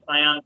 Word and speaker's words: Scion: Am I pronouncing it right? yeah, Cyan Capital.